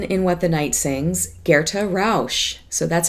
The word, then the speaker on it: Gerta Rausch: is our heroine in what the night sings guerre - Roush so that's how you say her name Gerta